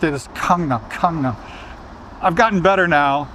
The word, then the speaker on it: Gangnam: And that really influenced my pronunciation of the word Gangnam, because the character that it represents is actually somewhere between the English K and the English G.